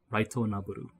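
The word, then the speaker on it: ライトノベル: So light novel will be pronounced more like Raito Naburu.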